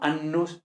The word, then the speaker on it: annus: da me calmé no siempre que aparezca una consonante geminada el latín debemos intentar pronunciarla como doble no como simple entonces intentemos no decir 'nos ayer sino annus aunque vale yo sé